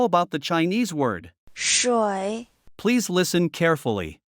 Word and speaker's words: 水: 水 Please listen carefully. 水 It only has 1 syllable.